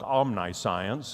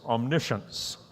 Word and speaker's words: omniscience: It looks like omniscience, and I've heard it pronounced or mispronounced that way, but it's omniscience.